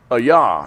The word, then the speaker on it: Ai: from Jericho uh to a yah and I had to look that up I had didn't know how to pronounce AI for years I would go over this a yeah it's a yah okay which is near